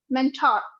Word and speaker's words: mentor: Mentor be very careful this R is not pronounced you do not say Mentor it is mental that's it Mentor okay no no R